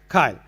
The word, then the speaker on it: CILE: And also, we were told that the correct pronunciation is it CILE? CILE.